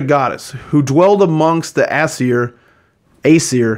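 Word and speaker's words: Æsir: was considered a goddess who dwelled amongst the Aesir, how do you say that? Aesir, okay.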